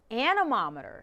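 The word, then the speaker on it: anemometer: Now, it rhymes with thermometer, but it's not a thermometer. The word is animometer.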